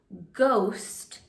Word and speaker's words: ghost: First, when it comes at the beginning of a word, it has the sound of G. The H is silent. Ghost is one word that starts with GH.